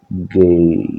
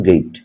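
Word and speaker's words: gate: main গেটের স্থানাঙ্ক main গেট গেটের আমরা আসলে গেট বলি সঠিক উচ্চারণ গেইট হুম তাহলে এটা হচ্ছে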